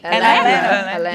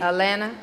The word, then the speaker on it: Atlanta: But the thing about Atlanta is you got to tell them how to say it. Atlanta. You don't say that other T. That second you never T, say drop that second T. Atlanta.